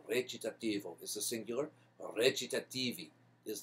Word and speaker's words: recitativo: It's recitativo. It's spelled without a CH. It's a C in Italian. It's pronounced like a CH. It's recitativo is the singular.